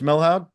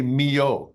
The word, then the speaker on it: Milhaud: Darius is born, named after Darius Milhaud. Yeah, Darius, and it's very funny. It's spelled Milhaud, but you say Mio.